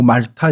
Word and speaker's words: 몰타: 아 오늘날의 몰타 공화국입니다. 그 저는 이제 몰타 공화국이라고 하는데 뭐 발음은 뭐 말타 이렇게 부르기도 하더라고요.